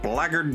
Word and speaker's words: blackguard: us to bring the blackguard down. And yes, that is how you pronounce that word. Blackguard. Don't ask me, English is weird.